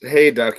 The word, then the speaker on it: Hayduk: And today we have. Is that Did I pronounce that correctly? Hey, duck. Pretty close. It's Hey, duck. Yeah, it's like hay and duck without the C.